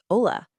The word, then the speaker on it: hola: Building your greeting vocabulary even further, a simple hello or hi is just hola. And remember that H is completely silent. Don't pronounce it.